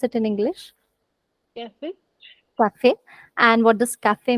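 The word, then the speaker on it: café: If you put the slanting line on the E, this sounds like A ki matra in Hindi, A. And that's exception number 1, where we do pronounce the last letter.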